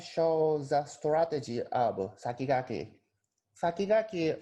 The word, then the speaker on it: Sakigake: Sakigake, or in Japanese pronunciation, Sakigake, literally means top runner, or something like that.